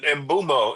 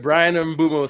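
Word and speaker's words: Mbeumo: Mark Gutierrez call it Mbumo. I was like, you better not let Mikey hear you say that shit. I heard Brian Mbumo say his name is Brian Mbumo, so his name Mbumo?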